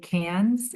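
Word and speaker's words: Cairns: Um but we we were able to go play in Sydney and Melbourne and we learned how to say cans. It's spelled C A I R Ns but cans.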